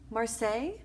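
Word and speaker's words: Maryse: upset with Mary say I called her Mary say but it's how you pronounce it Marseille yeah Marseille so we got the pronunciation correct and Luke went to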